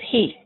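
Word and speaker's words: היא: He is who, and she, which might get you mixed up in the beginning, is he. It's pronounced the same as he, male, but it's for female.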